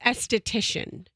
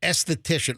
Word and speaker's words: esthetician: And it's esthetician. Yeah, esthetician.